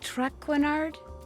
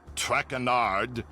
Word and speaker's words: Traquenard: Excusez-moi, mais êtes-vous Monsieur Traquenard? Please, in English. I do not wish to hear my native tongue butchered while I eat. As for my name, not Traquenard. It is Traquenard.